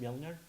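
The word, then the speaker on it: Mjölnir: How's it pronounced? Mjolnir.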